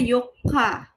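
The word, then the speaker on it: 四日: saya bahas tadi ya, untuk benda empat, benda keempat itu bacanya yotsu ya, empat buah yots. Sedangkan kalau dia untuk eh April bulan dia pakainya she bukan pakainya yong gitu ya. Kalau misalnya hari keempat itu pakainya Yoka atau tanggal 4 itu sama gitu.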